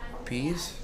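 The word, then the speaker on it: Pase: name right zach's what is this zach p-a-s-e peace peace yes exactly said peace we apologize in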